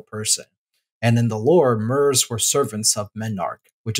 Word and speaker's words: Myr: Myr comes from the word Myrmidon, which the definition is a follower or subordinate of a powerful person. And in the lore, Myrs were servants of Memnarch,